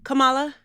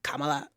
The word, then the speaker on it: Kamala: And respectfully, Kamala, I always say it wrong. Kamala.